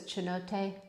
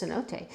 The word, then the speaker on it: cenote: Two coats of sandstone and two coats of chinote. I know it's cenote. I know I'm pronouncing it wrong. I'm pronouncing it the Italian way.